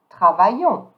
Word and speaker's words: travaillons: Now for the new form, we, the S here don't pronounce, and the S at the end don't pronounce. I will say nous travaillons.